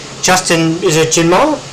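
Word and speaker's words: Njinmah: I'm going to try and get the pronunciation right. Justin, is it Jinmar? Jinmar, yeah.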